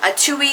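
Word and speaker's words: Atui: I'm just telling you that's how you pronounce it. I had to look this up. Atuei Studio, a t u i studio.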